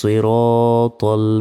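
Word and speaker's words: صراط: নাস্তাইন নাস্তাইন ইয়াকা নাবুদু ওয়া ইয়াকা নাসতাাইন ইহদিনাস সিরাতল ইহদিনাস অনেকে বলি ইদিনাস এখানে হার উচ্চারণই করি না দেখুন হামজা হাজের ইহ ইহন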